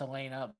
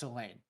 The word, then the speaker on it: Elena: With the way he worded, with the way it's spelled, it's Elena, but more than once very strongly put, it's Elaine.